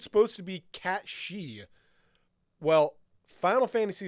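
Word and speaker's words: sídhe: the show Merlin and they were pronouncing s d h e which is the fairy folk the F folk yeah she she yeah that's how you pronounce that and that's when I realized oh that's why it's a ban she like the banshe and things like that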